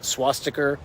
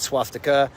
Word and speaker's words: swastika: First off, swastiker, not swastika, but swastiker. My guy, it can't even pronounce the hate symbol he's defending.